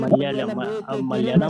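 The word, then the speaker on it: Malayalam: तलियालम में क्या है इसका प्रोनाउंसिएशन? मलयालम, केरल मलयालम वाले, है ओ मलयालम बोलते हैं हाँ ये ये फैजल जी।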